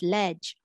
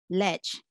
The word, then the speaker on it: ledge: should be pronounced as ledge ledge uh vowel e uh in middle layer saying e the short vowel f sound okay since the vowel sound just before the j is short as in okay we